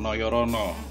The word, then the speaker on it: Nojorono: Kemudian yang besar lainnya adalah pabrik rokok Noyorono. Tulisannya Nojorono, ejaan lama guys ya.